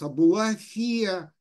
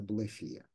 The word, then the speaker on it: Абулафия: Раби Мейр бен Тодорас Абулафия, или Абулафия, как вам удобнее произносить, я привык Абулафия, хотя в Израиле, естественно, ударение на последний слог, это Абулафия.